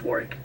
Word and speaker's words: Warwick: Obviously, we live over here, and she's like, "Oh, it's Warwick. It's Warwick. Drop the W."